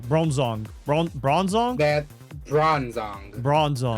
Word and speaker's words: Bronzong: I zoned out like trying to understand how to pronounce this. Bronzong. Bronzong.